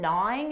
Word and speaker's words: gnawing: silent G no it starts with a N an n Sound not to not for example his text message has been gnawing at me all day